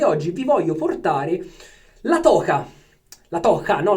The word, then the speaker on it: La Toja: Continuiamo la nostra avanscoperta con i prodotti del banco spagnoli e oggi vi voglio portare la toca. La toca, no la toia, perché in spagnolo la J si pronuncia H, la J.